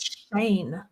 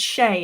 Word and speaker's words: Shay: I get Shane. I'm like, no, there's no N. There's no N. It's Shay.